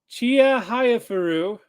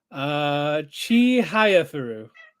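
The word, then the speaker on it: Chihayafuru: Manga Chia Hayafuru receives sequel in December. That name sounds familiar. I'm pretty sure I pronounced it wrong. How do you pronounce it? Chi Hayafuru. No, yeah, that's right.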